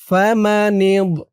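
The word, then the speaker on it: فَمَنِ اضْطُرَّ: নুন বজের নিদ, তাই এখানে উচ্চারণ হয়েছে ফামানিদ।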